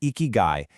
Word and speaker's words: ikigai: It's pronounced eeky and it basically means a reason for being.